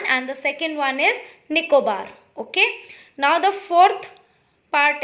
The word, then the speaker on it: Nicobar: and the second name of the island is nicobar n-i-c-o-b-a-r nico bar okay so the first one is andaman and the second one is nicobar okay now the fourth part is c's here